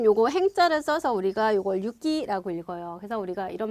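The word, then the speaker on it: 行き: 자 그다음 여러분 요거 행자를 써서 우리가 요걸 유기라고 읽어요 그래서 우리가 이런 말 하잖아요 뭐 오사카행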